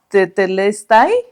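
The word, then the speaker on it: τετέλεσται: palabra que era que en griego se pronunciaba te telestai, así se, o sea, así se pronunciaba, ¿no?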